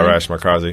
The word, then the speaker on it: Arash Markazi: Arash Markazi? Is that how you say it? Yeah, Arash Markazi.